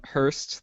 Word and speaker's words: Hurst: tell them about you Hurst that's how you pronounce the last name that is how you pronounce my last name uh I'm glad that